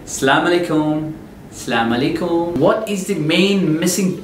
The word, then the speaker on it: Assalamu alaikum: The main difference is you don't pronounce each and every letter properly. The harf in Arabic, the main thing, native Arabic speaker will listen to your conversation. They can easily catch you by hearing your way of pronouncing the harf, the letters.